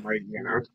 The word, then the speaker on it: Mightyena: I would say pass on Poochyena, but smash on Mightyena. What should I think? If you go by the high pronunciation of Hyena, it would be Mightyena, which is a really weird pronunciation.